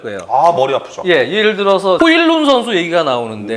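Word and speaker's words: Højlund: 예를 들어서 호일룬 선수 얘기가 나오는데 네. 라스문 호일룬 아마 발음이 호일룬이 맞을 거예요.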